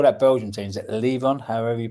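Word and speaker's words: Leuven: Is it Leon? However you pronounce it. Luven.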